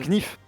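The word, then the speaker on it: knife: Couteau bien knif. Un knif. Il le dit pas il le dit pas.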